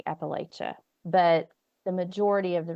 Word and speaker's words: Appalachia: like you're safest with latch you're safest with Appalachia yeah your that's where that's where you please